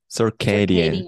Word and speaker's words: circadian: time that's exactly it circadian Cadian circadian yep okay okay um so you could break that up into sir which C though sir K circadian Cade sadean ccan yep